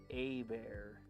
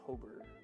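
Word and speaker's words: Hebert: Kyle Hobert's last name is pronounced a bear. Oh, her I couldn't read that. I thought it was Hobber. Hobar.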